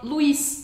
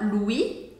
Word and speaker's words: Louis: a gente pronuncia assim o s no final do Lis a gente não fala Lui é como se fosse o nome Luiz em português então a gente fala Lui Lui ó com u